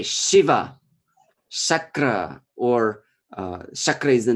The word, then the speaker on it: Shiva: sure so curved there is another sure which is in the word Shiva for example Shiva or yeah sure where we touch with our tongue the alveolar exactly or the place which I touched when we pronounce the consonant or sure yeah and it's different the sir of Shiva and sure of Krishna is different there are two different